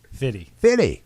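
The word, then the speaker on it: Fifty: 50 Cent or 50 Cent I think it's fitty it's fitty 50 you sound like a proper white man trying to describe what's coming on stage next this is 50 cent no it's fitty fitty with a d oh it's pity not even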